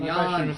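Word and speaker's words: Jan: Three cents from uh Jen. I pronounced my first name Yan.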